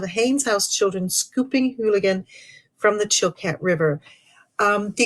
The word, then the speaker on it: Eulachon: and hooligan runs or you lookin locally it gets pronounced hooligan rather than you lookin here it's the D